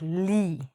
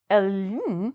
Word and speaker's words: -ly: So, in English, it actually sounds like "lee". Oh, that's very confusing. We don't say "el-ee", we say "lee".